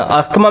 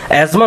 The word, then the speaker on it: asthma: अस्थमा में इसको बोलता हूँ लेकिन सही प्रोनाउंसिएशन एस्थमा होता है, ठीक है, तो मुझे कमेंट करके ना सिखाएं।